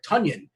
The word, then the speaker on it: Tonyan: me get it right tanyan and the reason why we know his name is tanyan because somebody tweeted out uh it rhymes with funyun which by the way